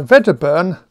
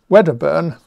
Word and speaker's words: Wedderburn: a famous theorem by vaderburn wedderburn i've been told off for pronouncing this in a german way when it's actually scottish says that the same